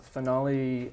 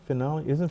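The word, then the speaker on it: Phoenale: there you go yeah P with a p finale Phoenix based off of my daughter's name Phoenix pH is in Frogger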